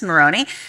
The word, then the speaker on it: Marrone: And I said, it's Marrone. He said, yes, it's Marrone.